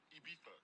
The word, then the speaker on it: Ibiza: Ibiza. Yeah, it's pronounced Ibiza, actually. What's the difference, man?